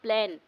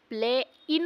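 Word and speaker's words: plain: देखें for example प्लेन इसकी स्पेलिंग क्या होती है पी एल ए आई एन प्ले इन होना चाहिए बट इसको प्रोनाउंस क्या करते हैं प्लेन क्योंकि ए जो आई जो है उसका जो प्रेशर है वो ए पर पड़ रहा है तो ए लॉन्ग प्रोनाउंस होगा दैट्ची शर्ट प्रोनाउन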